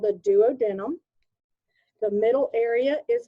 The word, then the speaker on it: duodenum: This first segment of the small intestine is called the duodenum or duodenum. It'll be pronounced 2 different ways.